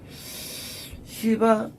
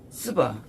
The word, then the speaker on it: 시바: 시바의 여왕이 솔로몬의 명성을 들었을 때 시바, 스바, 발음상 시바죠. 스바가 아니고 시바입니다.